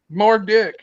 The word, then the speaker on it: Murdoch: the end of um the name Murdoch the um it's a h that sounds like a k more dick oh no no no